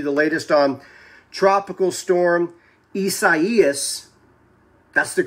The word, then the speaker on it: Isaias: And as we're at the computer, let me show you the latest on Tropical Storm Isaias. That's the correct pronunciation.